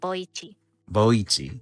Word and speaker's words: Boichi: Boichi.